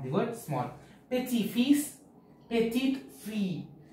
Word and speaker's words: petite: Petit fils, petite fille. As an e is added to petit, the t is also pronounced.